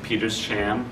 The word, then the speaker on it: Petersham: They camped out there for the night, headed up north towards Petersham, which apparently that's how you pronounce it, I learned at one point.